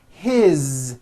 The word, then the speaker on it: his: His, same thing. It also has a voiced Z ending.